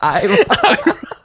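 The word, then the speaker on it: Aaron: My name is Iron. It's spelled A-A-R-O-N. It's pronounced Iron.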